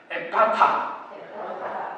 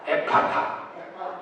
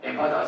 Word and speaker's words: 에파타: 예, 우리는 오리지널 발음 해볼까요? 다 같이 따라합시다. 에파타, 에파타. 예, 정확한 오리지널 발음입니다.